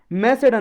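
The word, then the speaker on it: Macedon: मतलब लड़ाई हुई थी मैसेडन में। जो मैसेडन के थे एक एलेक्जेंडर, एलेक्जेंडर कहाँ के थे? मैसेडन के, या मासेडोन इसका प्रोनाउंसिएशन है।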